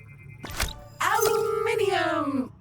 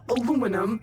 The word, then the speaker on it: aluminium: Aluminium or aluminum as Americans pronounce it incorrectly.